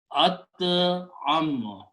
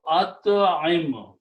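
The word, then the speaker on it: أطعِم: So if we combine them and pronounce this way, at'am. Okay, actually in this case the middle letter will carry a kasra. Okay, so at'im.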